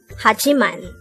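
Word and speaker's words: 하지만: second syllable into g third syllable is man pronounce it with me hachiman the word hajiman is also a conjunction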